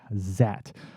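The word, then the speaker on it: Zaat: That's spelled Z-A-A-T, Zat, which was a 1970s Florida-filmed sci-fi horror monster movie about a scientist who's able to transform himself into a amphibious creature.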